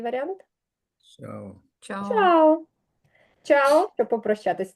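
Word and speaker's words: chao: це сполучення двох знаків вона читається як ч завжди Як ви прочитаєте цей варіант чао чао чао чао щоб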